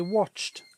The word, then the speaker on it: watched: I watched a program on the TV. It was sad. So the ed this time is pronounced like a t. I watched. Cheer up, she laughed.